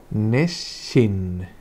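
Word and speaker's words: 熱心: Y eso se lee neshin, neshin.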